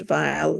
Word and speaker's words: Weill: her name they um it can be pronounced vile Veil or V in French um because if it